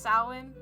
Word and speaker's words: Samhain: Samhain. Apparently, I What? know, it's a really Halloween. weird word. It's Halloween. It's pronounced Samhain.